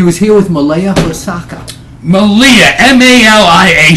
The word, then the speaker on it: Malia: M A L I A. She pronounces it Malaya. But in Hawaii where all the brothers and sisters are, they will tell you it is pronounced Malia.